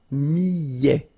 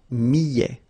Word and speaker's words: millet: And then double L, so y, y, millet, a t at the end, open, millet.